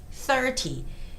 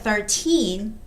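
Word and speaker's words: thirty: Now, when you're reading the word 30, make sure you have the stress on the first syllable, which is THI, 30. Because if you say 30, it sounds like 13, which is a totally different number, right? It's not 13, but it's 30.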